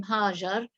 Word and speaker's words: Hagar: I'm wondering if we should start with this tomorrow, because it's been the mention of Hagar, and some people pronounce her name Hajar, has been critically ignored.